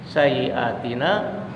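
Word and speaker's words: سيئاتنا: al-ikhlas Hai wakaf Verona sayyiatina kasrah bacanya sayyiatina binuril ehlers wakaf Kirana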